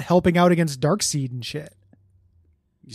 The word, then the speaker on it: Darkseid: Fate not helping out against Darkseid and shit?